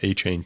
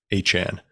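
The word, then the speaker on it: Achane: Anan I guess he's he's corrected our pronunciation from aan to Anan working on that one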